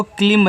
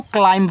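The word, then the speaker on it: climb: लेकिन इसको आपको क्लिंब नहीं पढ़ना है। अगर हिंदी वाले की तरह बनाओगे तो आपका क्लिंब हो गया। लेकिन याद रखना आप क्लिंब नहीं पढ़ोगे। बहुत लोग क्लिम पढ़ते हैं। आपको इसको क्लाइंब पढ़ना है। क्या पढ़ना है? क्लाइंब इस तरीके से।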